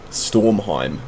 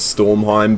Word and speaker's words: Stormheim: going to want to fly over towards uh stormheim is how you say it you're going to want to fly over towards stormheim but in between surar and the broken aisles